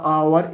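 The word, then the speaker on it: hour: यहाँ पर लिख भी रखा है द एच एट the beginning of द आवर is silent. जो एच है वो साइलेंट है। इसका मतलब ये नहीं आप एच हटा दोगे स्पेलिंग में, एच को आप लगाना पड़ेगा। बोलते वक्त आप आवर बोलोगे, इसीलिए आप एन का इस्तेमाल करोगे।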